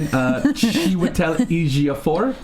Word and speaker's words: Chiwetel Ejiofor: This morning, Chiwetel Ejiofor.